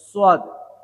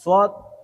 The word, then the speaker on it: صاد: সোয়াদ, এই সোয়াদ 2 ঠোঁট থেকে উচ্চারণ হবে। গোল ঠোঁট দুটো একটু গোল করবেন।